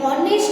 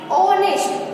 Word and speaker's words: honest: देखो, स्पेलिंग क्या है, HONEST, यानी हॉनेस्ट नहीं होता है, क्या होता है, ऑनेस्ट। ओ से साउंड यानी वोवेल से साउंड है, तो क्या आएगा, एन ऑनेस्ट आएगा। H है वो बोलने में साइलेंट है, भले यहाँ पे लिखा है लेकिन इसको बोला नहीं जाता है, इसलिए इसका साउंड